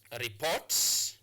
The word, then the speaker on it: report: Look at this word, report. Report these incidents. Go report these incidents. So report. So you place your stress marker on the second syllable.